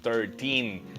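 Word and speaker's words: thirteen: No se les olvide practicar esos números 13, acento en el teen, right?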